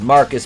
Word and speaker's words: Marquise: the black joker aka marquise pronounced marcus because he's a [